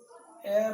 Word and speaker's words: heir: इसमें देखिए इसका उच्चारण एर होता है, इससे करके इसमें एन लगेगा, जिसका कि हिंदी में नहीं होता है उत्तराधिकारी।